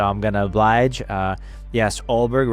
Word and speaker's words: Ulberg: Yes, Ulberg, right? That's how you say it. Ulberg is doing really good.